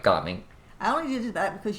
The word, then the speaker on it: Gaming: Because in English it says gaming. It does. Which, that's what this is. Yeah. He's named after what we do, gaming, but no, it's pronounced gaming.